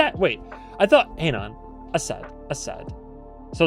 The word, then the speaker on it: Asad: So Assad Assad Assad. Assad. Assad. Assad. Assad. Assad. All right. Assad. Sure. Assad. Assad. All right. Basically how you've been saying it, but just emphasize the first syllable.